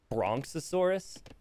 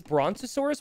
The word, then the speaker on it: brontosaurus: what the three years bronx asaurus wait so this person who corrected me on how to say this dinosaur's name didn't even have it right it is brontosaurus with a t how can you the